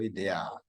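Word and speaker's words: -idae: Dea jadi ada dilanko idea kemudian ada family idae membacanya ide kalau Super Family tapi membacanya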